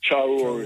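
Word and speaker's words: Traoré: Can you please pronounce his last name, Muta, the South African president? Traore name. Yeah, Ibrahim Traore.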